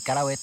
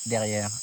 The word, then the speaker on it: Kalaweit: que gibbon en Dayak il y a pas de i en Dayak cela s'écrit simplement Kalawet et moi à l'époque quand j'ai créé Kalaweit, j'ai ajouté un i pour que les Français ou les étrangers quand ils lisent le mot